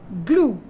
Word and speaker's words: glue: Glue. E is silent.